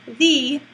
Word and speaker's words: the: bit different from that so the rule is you use the when the next word begins with a consonant sound and you use the pronunciation v when the next word begins with a vowel sound so to give you